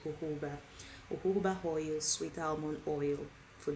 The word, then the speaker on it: jojoba: one spelled for j o j who it's pronounced jojoba oil sweet almond oil for dry mature skin